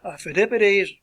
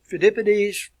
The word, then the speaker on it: Phidippides: You can pronounce this either two ways. Phidippides, my pronunciation, Phidippides, it's something similar to that, but I would just say Phidippides. That's an easier pronunciation.